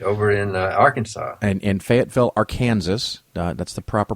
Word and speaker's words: Fayetteville: weekend yes right over in arkansas and in fayetteville arkansas that's the proper pronunciation discover it in those it's right below